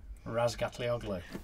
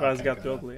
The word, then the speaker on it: Razgatlıoğlu: Razgatlioglu. You say? Not a chance. You try. Did I get it right? Was my pronunciation? Yeah, this is a good right? Yeah. Razgatlioglu.